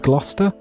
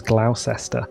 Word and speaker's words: Gloucester: North America try and pronounce some of the places over here like Gloucester GL o u c EST or Gloucester Shire it's always Glaus esta and I'm like you